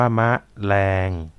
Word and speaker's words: แมลง: กลาง วัน สบ ตา แมลง คำ นี้ นะ ครับ อ่าน ว่า แมลง เลิศ เพลิน ตะไคร้ หอม